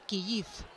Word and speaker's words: Kyiv: Ucrania lleva años pidiendo que su capital se denomine Kyiv, denominación en ucraniano. Sin embargo, hasta ahora internacionalmente se la conoce como Kiev en ruso.